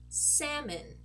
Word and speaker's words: salmon: kind of crazy okay these two words are pronounced completely different from what they should be pronounced based on how they are spelled so this word over